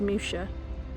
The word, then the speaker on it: Muxia: Or another place called, that's spelt Muxia, M-U-X-I-A, but I'm told is pronounced Musha.